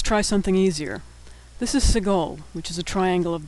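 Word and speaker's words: segol: something easier this is Seagal which is a triangle of dots Seagal makes the a sound in bed Segal can also appear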